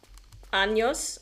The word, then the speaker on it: años: learning Spanish, was that there's a big difference between años and anos. Anos means anos. Años means year. So your pronunciation is the difference between I am 20 years old and I have 20 assholes.